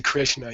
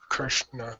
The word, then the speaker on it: Krishna: Just you have to be aware that the correct pronunciation of a vocalic R is I-R, not R-I. You don't say Amrita, you say Amrita. You don't say Krishna, you say Krishna.